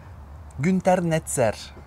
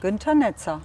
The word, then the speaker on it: Günter Netzer: Günter Netzer. Yeah, good. I don't have to correct it. Günter Netzer. Günter Netzer.